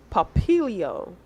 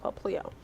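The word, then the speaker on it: Popplio: And then the sea lion questionable Pokemon is Papilio. No, Paplio. Paplio. Yeah, I want to say that's how it's pronounced, Paplio.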